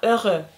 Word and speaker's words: heureux: Okurken ikinci turda heureux dedim. Heureux. Burada da yazdım zaten. Görüyorsunuz. Heureux diye okunuyor. H okunmadığı için falan bir değişik.